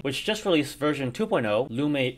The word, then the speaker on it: Lume: Lume is the correct pronunciation for those wondering. I would know because Oscar told me.